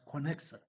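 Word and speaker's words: connexon: Gap another another connection reads this c-o-w-n-e-o-x-o-n is a spell is pronounced as connection each connection is made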